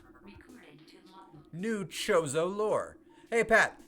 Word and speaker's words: Chozo: I pronounce it Chozo, son of a bitch.